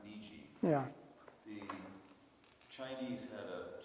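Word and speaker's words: 虹: So, for instance, the character for rainbow, which is pronounced Niji, Yeah.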